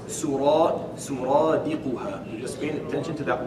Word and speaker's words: سرادقها: Pay attention to the way that's pronounced. Suradiquha.